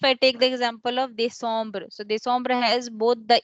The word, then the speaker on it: décembre: So when the first E is with an accent, we are you pronouncing it as A, they. Okay. Second E is with the M letter. So it is making it as a nasal sound.